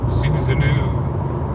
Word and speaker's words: Susanoo: I'm sorry I missed the reference, that I may have been pronouncing your name wrong this entire time. Susanoo? Susanoo.